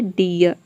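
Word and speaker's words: deer: आर आ रहा है इसलिए हम यहां पे डबल ई को ई प्रोनाउंस कर रहे हैं तभी इसका प्रोनंसिएशन हो रहा है डीयर आप चाहे तो आर को साइलेंट रख सकते हैं आपका प्रोनंसिएशन करेक्ट होगा या फिर आर को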